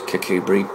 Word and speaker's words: Kirkcudbright: It's pronounced Kirkcudbright, but it's spelt Kirkcudbright, Kirkcudbright, and Kirkcudbright, according to the people, of Kirkcudbright is pronounced Kirkcudbright.